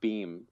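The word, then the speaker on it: Behm: him a shout out his name is mark beam his last name is spelled b-e-h-m uh i i still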